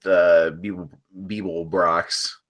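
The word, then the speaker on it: Beeblebrox: they have some open things including stuff with Beeble Brox.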